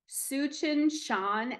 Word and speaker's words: Tsuchinshan: So, the comet is Suchin Shan Atlas. It's spelled Tsuchinshan Atlas.